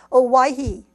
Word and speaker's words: Owyhee: the school was in the town of Owyhee, which sounds kind of like Hawaii, doesn't it? But it's spelled totally differently. O-W-Y-H-E-E, Owyhee.